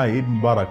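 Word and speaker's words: Eid Mubarak: ID Mubarak is that what you say yeah ID Mubarak yeah so to all our viewers thank you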